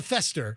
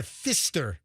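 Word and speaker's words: Pfister: hotel because I guess they stay at the Faster. Not the Fester. The Faster. The Fister. The Fister. P. The Fister is a different hotel altogether.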